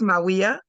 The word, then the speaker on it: Mawiyah: Before I get started, please provide me with the correct pronunciation of your name. I'm like, I would not butcher sis's name. It's Maui.